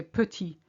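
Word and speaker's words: petit: instance in the word putty p-e-t-i-t you have a t on the end it's silent you say putty if there's an e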